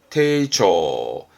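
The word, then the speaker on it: 丁重: 공손함, 정중함 발음은 테이초.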